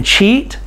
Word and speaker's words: cheat: And so here in cheat, C-H-E-A-T, the A is silent and we have the long E sound.